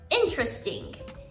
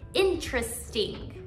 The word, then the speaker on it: interesting: careful with the pronunciation we actually omit the sound of the first e so instead of saying interesting we say interesting interesting the same thing happens